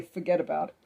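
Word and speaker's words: fuhgeddaboudit: getting on a certain spot it would say forget about it and it's spelled like f u h g e d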